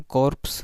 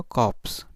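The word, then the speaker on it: corpse: कॉप्स क्या होता है, इसे हम कॉर्प्स नहीं बोलेंगे, आर साइलेंट होगा, कॉप्स.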